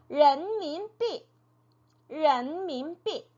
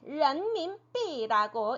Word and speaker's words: 人民币: 人民币 네, 人民币라고 읽었죠.